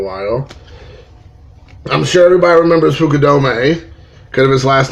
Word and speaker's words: Fukudome: play quite a while I'm sure Dubai remembers Fukudome good of his last name being kind of